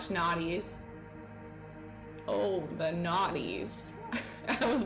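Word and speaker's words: noughties: Nudies? How do you say that? Nudies? Nudies? Naughties? Like not. Oh, like not. Yeah, not nude.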